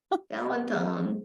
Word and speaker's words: Valentine: any of you know Valentine Valentine I mean that's the French way to pronounce it the British are notorious